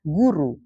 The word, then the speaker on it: goeroe: Oleh karena itu, dalam ejaan ini dikenal dengan penggunaan huruf OE untuk bunyi U, lalu huruf TJ untuk bunyi C, dan huruf DJ untuk bunyi J. Maka kalau ada kata goeroe, dibacanya guru gitu.